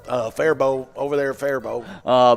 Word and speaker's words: Faribault: name there it's one of our hardest to pronounce minnesota town name yeah fairball yeah that's what we've been saying it yeah